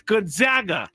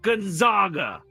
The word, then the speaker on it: Gonzaga: And I used to call them Gonzaga. It's Gonaga. If you're a reporter who reports on college basketball, you should know it's Gonaga, not Gonzaga.